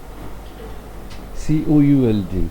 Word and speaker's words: could: COULD. Good. L is silent.